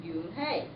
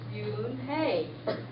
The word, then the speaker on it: Yoon-hye: "Yes, it's pronounced Yoon-hye, and it means grace," Mr. Kim added. "Yoon-hye," Joey said slowly, and this time perfectly.